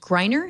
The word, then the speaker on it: Greiner: Ron writes the Likelihood of Confusion blog, and he's a partner at Archer and Greiner, if I'm saying that right?